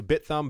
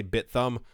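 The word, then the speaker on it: Bithumb: like a bit and it looks like a thumb so I'm gonna say bit thumb iOS T in polymath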